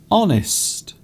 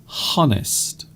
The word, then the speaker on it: honest: Honest. So the letter H at the beginning is not really pronounced. You don't say honest.